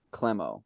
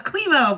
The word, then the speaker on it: Klemow: We have the comedian Klemow. Did I say it right? So close, Klemow, but Klemow. really close. She It's told me how to okay. say it right. I'm telling you.